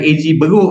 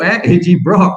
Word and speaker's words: AG Broc: Bukan AG Beruk, AG Brock. Ya, kena pronounce betul-betul tu.